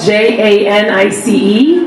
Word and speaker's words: Janice: name is my first name is spelled J ani see and I guess in America that's pronounced Janis which I never enjoyed